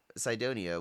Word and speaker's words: Cydonia: at specifically was the Cydonia. I'm probably pronouncing that wrong. Cydonia, Cydonia region of Mars. I'd say like we pronounce cyan, like the color, right? Yeah, so it could be. Cydonia, which was it's sort